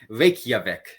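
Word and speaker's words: Reykjavík: it's pronounced Reykjavik.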